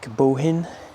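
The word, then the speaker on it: Bohinj: from Bled to Lake Bohin. We've been pronouncing it completely wrong up until now. Apparently in Slovenia, if something has a J at the end, you don't enunciate it.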